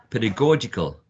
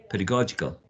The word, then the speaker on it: pedagogical: you will have a an idea about the pronunciation of this one which is pedagogy pedagogy pedagogy and seven two pedagogical pedagogical there are many words that many people think